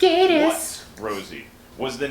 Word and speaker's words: Gatiss: And It's that pronounced is, Gaddis.